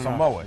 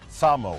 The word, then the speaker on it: Samoa: American Samoa Samo Samoa cuz see us on the states always go Samoa it's Samoa s American s American Samoa